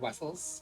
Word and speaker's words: Vessels: At the same time, it's like my last name is Vessels, but I pronounce it like Wessels because everyone else pronounces it like Wessels, not waffles.